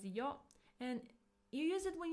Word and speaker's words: よ: It's pronounced as yo.